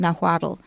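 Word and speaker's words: Nahuatl: It's called nawad and it's spelled capital n a h u a t- l. So you'll see a lot of words from naddle.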